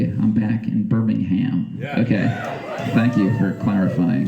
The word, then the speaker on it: Birmingham: England and over there they're pretty insistent that we're supposed to say Birmingham like no h involved Birmingham like no ham like just a vegetarian version just Birmingham how would you say it here would that be correct here no no we're all about the ham Birmingham yeah okay uh got